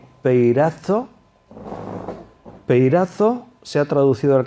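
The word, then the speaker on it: πειράζω: La palabra tentación en el griego es una palabra, se pronuncia así, peirazo.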